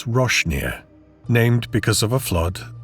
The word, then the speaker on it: Roasting Ear: The locals pronounce the place Roshneer, named because of a flood long ago that washed roasting ears of corn down the creek.